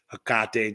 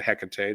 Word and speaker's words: Hecate: Hecate too, or Hecate, depending on how you pronounce it.